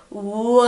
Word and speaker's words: world: You want to come down super quickly, so you go, world. See? That's how you pronounce it.